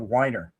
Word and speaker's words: Winer: They used to call him Wiener instead of Winer.